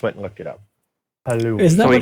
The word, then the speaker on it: halloumi: So, the cheese this week is halloumi.